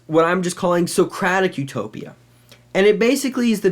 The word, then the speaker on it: Utopia: uh the good place but also being uh pronounced in a different way it sounds like no place so literally Utopia is